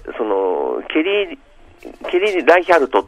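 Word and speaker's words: Reichardt: ねそのケリーケリーライキャルトっていうまドイツ系の名前だと思うんですけどもあ英語ではライチャって読むんですがうん監督さん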